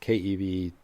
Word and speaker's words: keV: and Tera electron volts so these are usually pronounced Kev me gev and te and so those